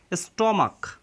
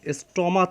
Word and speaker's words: stomach: স্টমাক, এখানে CH এর উচ্চারণ কিন্তু ক হয়েছে, স্টমাচ হয়নি, স্টমাক হয়েছে। স্টমাক অর্থ পাকস্থলী।